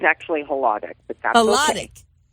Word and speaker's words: Hladek: right hack it's hack is that how I pronounce it it's actually htic but that's htic right htic why I didn't